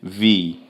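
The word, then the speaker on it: ville: cidade tá aqui então cidade é vi vi por quê Porque aqueles dois L que tá lá no meio só tá ocupar espaço não se pode pronunciar os dois L tá Verê os dois L quando tá entre lá no meio você não pode pronunciar então vi tá ver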